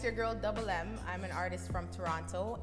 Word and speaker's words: DVBLM: DVBLM is still pronounced double M.